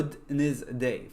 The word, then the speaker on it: Wednesday: أوكي ولكن لازم أركز، ولازم مثلا كلمة Wednesday الربوع لازم نتذكر انها Wednesday فيها دي في النص بس ما ينطق.